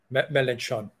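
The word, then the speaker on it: Mélenchon: Melanchon. Am I pronouncing that correctly?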